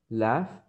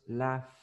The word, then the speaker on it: laugh: No letters but sounds so if I say laugh laugh is ending in f but in pronunciation not in letter because this is pronounce laugh laugh laugh in the present so so in the past I will say left left left yes because the sound in the present is like f laugh so left and the